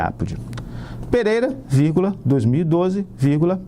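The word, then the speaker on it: apud: tem acento porque latim não tem acento mas se pronuncia ápode Pereira víg 2012 ví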